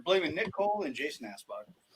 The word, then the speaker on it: Anspach: You guys It's are Anspach.